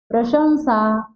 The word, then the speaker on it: प्रशंसा: यहाँ न लगाते हैं, न नहीं लगेगा, ये गलत बोला जाता है इसको। इसका शुद्ध उच्चारण क्या होगा? ये इसका क्या ऊ आएगा, ऊ उच्चारण होना चाहिए।